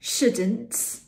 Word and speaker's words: shouldn't: shouldn't wouldn't couldn't for these conditional words these ones are negative conditional words but for all conditional words we have this we don't pronounce the L sh w c the